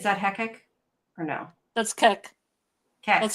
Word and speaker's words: Kek: That's Kek. Kek. pronounced like you're laughing, but it looks too much like Peppy the Frog meme.